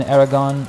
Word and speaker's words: Aragon: In Aragon, you should stress the last syllable.